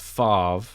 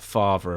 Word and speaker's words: Favre: on this already but Brett Favre not father apparently because that was the Something About Mary pronunciation that only I've heard but yeah he he's